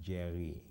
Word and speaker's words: Jerry: first name is jerry in sierra leone it would be pronounced jerry the r is somewhat akin to the french or arabic are it's articulated uh further